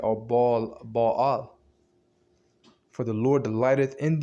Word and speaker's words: Baal: Baal, not the Satan Baal, but it's pronounced Baal.